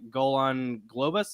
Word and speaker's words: Golan Globus: uh the goal I always forget how to pronounce their names uh Golan Globus is that right yep yep golden Globus yeah